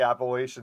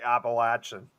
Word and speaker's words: Appalachian: I always say again, I used to say Appalachian. Now I'm starting to say Appalachian.